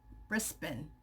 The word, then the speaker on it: Brisbane: We pronounce it Brisbane.